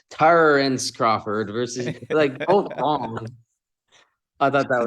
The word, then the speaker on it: Terence: then they're like oh it's not terrines it's Tara and Crawford versus I thought